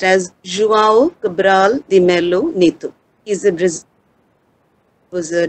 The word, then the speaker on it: João Cabral de Melo Neto: It's pronounced as João Cabral de Melo Neto.